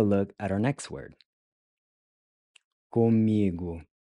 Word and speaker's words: comigo: Comigo. Comigo. Comigo. Comigo means with me. Once again, the O is pronounced like a U, giving you gu.